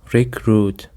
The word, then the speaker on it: recruit: Recruit. Recruit consists of two syllables and the stress is on the second syllable.